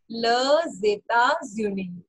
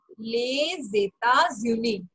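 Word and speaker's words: les États-Unis: Okay this will be pronounce as ल जेता ज्यूनी. Okay I am highlighting this क्योंकि इसकी प्रोनाउंसिएशन थोड़ी सी डिफरेंट है. ले जेता ज्यूनी.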